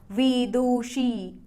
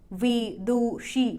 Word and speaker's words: विदुषी: बोलेगा तो वो कहेगा विदुषी विदुषी मतलब तीन सिलेबस हैं कर्टन को कैसे भूलेगा